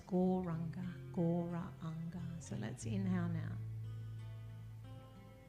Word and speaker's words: Gauranga: The mantra is Gauranga, and it's said in 4 syllables. Gauranga.